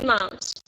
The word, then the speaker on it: months: Comfortable proof three months. Okay. Three months. You have to pronounce S.